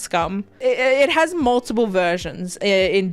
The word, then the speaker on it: Skam: I mean, it's spelt like scam, but I think it's pronounced scum.